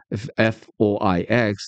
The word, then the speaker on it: Foix: Let's say it is spelled F-O-I-X, the name of Cathar City, a town not far from Toulouse, pronounced Foix.